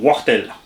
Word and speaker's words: Wartel: Papa W, j'ai pris tout simplement, donc ceux qui ne savent pas qui c'est Wartel, W-A-R-T-T-E-L, se prononce là-bas dans la région Wartel.